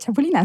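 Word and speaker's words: chapulines: That's how they say it, chapulinas.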